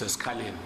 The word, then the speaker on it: Esikhaleni: I agree with you, Chair. It's Escalene. Should be Escalene. Yes. Should be read as Escalene.